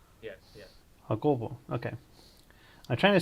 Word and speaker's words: Jacobo: It's Jacobo, but you Hakobo. know what? Hakobo. So there's Yeah, an emphasis on the second part. yes, yes. Hakobo.